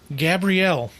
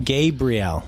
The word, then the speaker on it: Gabrielle: Gabrielle. Not Gabriel. Gabrielle. No. Gabrielle? Because, yeah, you have to look at the way she pronounces her name on her profile. It says it right here.